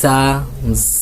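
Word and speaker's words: ز: যা উচ্চারণ করার জন্য আপনার দুই দাঁতের গোড়ার সঙ্গে দুই দাঁতের গোড়ার সঙ্গে আপনার জিহ্বার আগাটা লাগান জিহ্বার আগাটা লাগিয়ে বলেন যা যা যারা আমার সাথে বলেন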